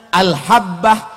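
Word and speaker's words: الحبة: Asa Arab ribu gitu banyak tulisannya mirip cara bacanya beda Al Jannah AL habbah aljuna al-jinn nah itu tulisannya sama semua Makanya jangan baca kitab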